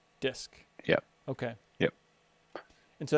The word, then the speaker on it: Dysk: One is Dysk, DYSK, and that's like a DF replacement, but it shows it in a much more human readable form. Spell that again. DYSK, Dysk. DYSK, Disk.